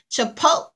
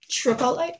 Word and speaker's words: chipotle: And we are trying the, how you pronounce this, Pooh? Chipotle. It's cranberry chipotle cheddar. Who? Chipotle. Tripotle? Say it, Chipotle.